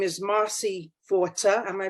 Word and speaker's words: Forta: this very subject, and her name is Marcy Forta. Am I pronouncing it right, Marcy?